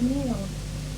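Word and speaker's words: NIEO: know about connecting to new new interational e new international economic order uh new international economic order n i e o or sometimes pronounced NE which doesn't sound nice sounds like and Cat mewing uh it n EO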